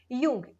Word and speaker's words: Jung: यूंग, ये please याद रखें, ये JUNG, जंग नहीं बोलेंगे इसको, ना जूंग बोलेंगे, इट्स यूंग, ठीक है। जे इज साइलेंट।